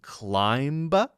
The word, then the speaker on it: climb: CL climb up a hill climb we don't pronounce the be in climb right and we don't pronounce the be in